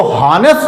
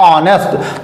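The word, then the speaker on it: honest: जैसे दिया हुआ है ऑनेस्ट मैन, लिखा जरूर एच से है, लेकिन यहाँ पे एच आप ये कह लो साइलेंट है, या ये कह लो कि जब इसका हम प्रोनाउंसिएशन करते हैं तो हॉनेस्ट नहीं कहते हैं, हम इसको कहते हैं ऑनेस्ट।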